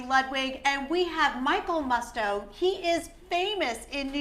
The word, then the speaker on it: Musto: and celebrities welcome Michael thanks for saying my name right Musto yes so I don't mind moussed oh I really don't know okay it's not very continental yes I have to